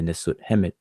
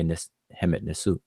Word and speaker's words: Hemet Nisut: You don't say Nisut Hemet, you say Hemet Nisut.